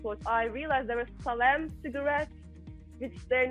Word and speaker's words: Salem: But on my last watch, I realized there were Salem cigarettes, which they're not produced anymore. How did you even find them? It gets crazy. Which ones? Maybe I'm pronouncing this wrong. It's Salem cigarettes, like the minty.